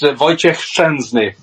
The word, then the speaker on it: Wojciech Szczęsny: Well, obviously he's former Arsenal keeper, but it's pronounced Wojciech Szczęsny.